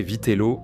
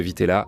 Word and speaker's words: vitela: J'ai toujours mal prononcé, je disais Vitelo au lieu de Vitela, c'est bien avec un A, là où l'Italie rencontre la cuisine contemporaine.